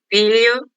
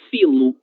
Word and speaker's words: filho: Esse dígrafo, ele sempre será pronunciado dessa forma, lha, lha, lho, lha, na palavra velha, certo? O que acontece? Eu observei que em algumas apresentações, algumas pessoas falaram filo, filo e vela, por exemplo, como se